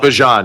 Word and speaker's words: Bijan: Bjan. Yes. Bjan. Yes. It's no longer Bjon. It's Bjon. Yeah. Somebody mispronounced it.